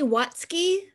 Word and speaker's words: Watsuki: And is it Watsuki? Am I saying that correctly? It's actually Watsuki. The U is silent.